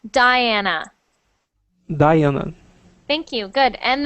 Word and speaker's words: Diana: me first word Diana so in English we pronounce that Diana Diana thank you good